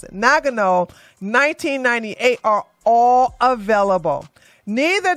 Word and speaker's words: Nagano: uh n Nago Nagano I that's how you pronounce it Nagano 1998 are all available neither the Olympics nor